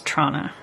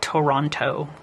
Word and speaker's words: Toronto: that's how it's pronounced for anybody unfamiliar it's Trana not Toronto anybody who pronounces it Toronto is not from Toronto you're